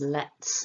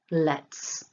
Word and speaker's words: lets: third person let's because the t is not voiced it's aspirated with the puff of air we pronounce the final